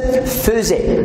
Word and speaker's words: faisait: Même ça s'écrit faisait, mais on prononce faisait.